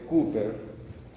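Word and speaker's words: Cowper: glándulas bulbouretrales o de Cooper. Mirarán en la guía cómo es la ortografía de Cooper, C-O-W-P-E-R.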